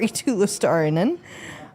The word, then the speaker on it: Eetu Luostarinen: The Florida Panthers are getting Scott Wedgwood in return for Eetu Luostarinen.